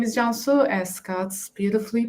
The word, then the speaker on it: Cansu: So my name is Cansu, as Scott's beautifully pronounced.